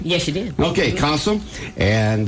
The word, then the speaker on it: CASA: in this morning they're from Casa did I pronounce it right yes you did okay Casa and U Rachel why don't you tell folks